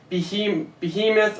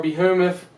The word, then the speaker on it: behemoth: Even more dramatic is the book of Job, where the author describes the great land creature, behemoth or behemoth, depends on how you want to pronounce it, and the great water creature, Leviathan.